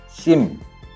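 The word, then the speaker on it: ສິມ: 주요 건물은 심 혹은 불전이라고도 불리며 특히 다층의 지붕이 눈에 띕니다. 심이 우리가 심카드 할 때 심하고 발음이 거의 같습니다.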